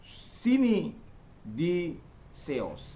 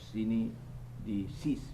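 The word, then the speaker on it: συνείδησις: Tapi membacanya sini di seos, sini di seos, sini di sis, ya.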